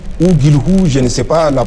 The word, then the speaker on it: Guilhou: Guilou s'écrit G-U-I-L-H-O-U. C'est aux téléspectateurs ou bien aux Français de nous dire comment ça se prononce, mais moi je considère que c'est Christophe Guilou.